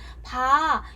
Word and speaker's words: 봐: 그래서 보아 같은 경우는 봐, 야, 나 이것 좀 봐. 뭐 이런 식으로 길게 발음을 한다.